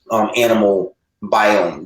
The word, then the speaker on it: Animal Biome: You guys have just created the next level of that with your beautifully packaged Animal Biome. Did I pronounce that right?